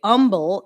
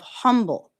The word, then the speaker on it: humble: I'm not going to bully people from the um souththeast that say humble instead of humble. That's the way they say it from wherever it is they're from. Okay. There's a pastor I like to listen to every now and then that says humble. The H is silent.